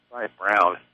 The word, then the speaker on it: Braun: Ryan Brown. My preferred pronunciation.